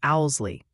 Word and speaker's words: Owsley: And quick PSA from the viewers that tricky Kentucky is pronounced Owsley, like the wise old bird, you know.